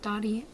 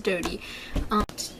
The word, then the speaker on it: Dodie: but recently Dodie Clark, it's Dodie, right? Not Dottie. Oh, I feel like this, it's Dodie. She says Dodie.